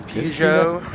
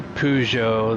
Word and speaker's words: Peugeot: If you say Peugeot the way they want you to say it, it sounds like you're saying it wrong. Peugeot. It's actually Peugeot. There's not even an R in it.